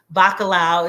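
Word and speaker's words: bacalhau: that you sit um there it's okay Katrina bakalao is spelled b-a-c-a-l-h-a-u thank you Katrina I appreciate you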